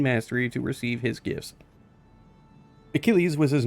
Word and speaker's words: Achilles: was like who is a Chili's and Alex trc's like nope I'm sorry or you got to pronounce it right dumbass it's Achilles that's it's kind of